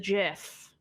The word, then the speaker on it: GIF: I think I don't know where the GIF stuff comes from, but Am I the baddie? Yeah, you're bad now. I only say GIF because the word, the G word, has a hard G.